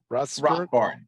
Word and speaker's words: Rothbard: And is it, am I saying it right? Rothbard. Rothbard. Yeah.